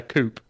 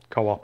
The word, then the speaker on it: Coop: It's a coop. Or co-op, I suppose the rest of us would call it, but they pronounce it coop.